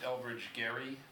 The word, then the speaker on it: Elbridge Gerry: ahead okay so this is oops this is Elbridge Gerry somehow the name for the turn became gerrymandering but that's how you pronounced his name apparently I've learned over the